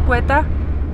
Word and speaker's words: Quetta: Jesteśmy w miejscowości Quetta pisze się, a czyta Quetta?